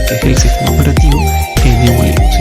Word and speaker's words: GNU: Esto es como dato simplemente anecdótico para que lo sepan, porque cuando se pronuncia GNU en inglés tiene una singularidad parecida a Ñu.